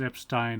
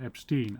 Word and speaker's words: Epstein: Brian and his family were always very insistent that it was Epstein and not Epstein. I don't know where they've got this idea of it being Epstein from. Probably because that's how Americans would pronounce it.